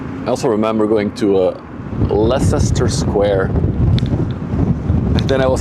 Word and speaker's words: Leicester: It's like Leicester Square. It's Leicester. I see an E. Pronounce it. Crazy British in your pronunciations.